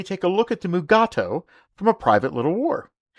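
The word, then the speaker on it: Mugato: scripts of this episode however DeForest Kelly could not pronounce the name correctly so they changed it to mugat but unfortunately during the entire filming both Shatner and Kelly pronounced the name as mugatu mugatu attacked him mugatu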